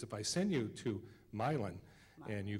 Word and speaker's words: Milan: Can I ask you to pronounce the name? It's a name of a town. It's Milan. Milan? Pretty close. It's Milan.